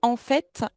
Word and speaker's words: en fait: Attention à sa prononciation. Vous savez que normalement les t à la fin des mots en français ne se prononcent pas. Mais ici celui-ci se prononce. Vous pouvez pas me dire en fait.